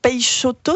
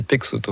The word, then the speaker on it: Peixoto: Peixoto, c'est comme ça qu'on dit ? En portugais, ça pourrait être comme ça. En français, c'est Peixoto.